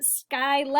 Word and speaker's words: Scylla: you're right it's sky kind of like the name Scylla I hope you're watching Scylla your name has long I in it good job okay then